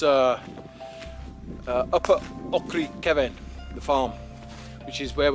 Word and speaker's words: Cefn: C-E-F-N spelt Cefn, but pronounced Cefn, like Cefn Hill, opposite the Hay Bluff back in Herefordshire.